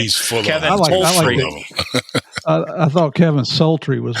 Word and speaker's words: Holtry: We had Kevin, as he talked about, not the half tree, but the whole tree. That's how he said his pronounced his last name. He's full Kevin of Holtry.